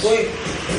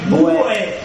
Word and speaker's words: bué: eu falava bo é bo eu falava Boe eles falam bo aí tá o o som do do é como ó Néo bué bu bu F você escreve bué aí você pronuncia rápido bué bu aí significa B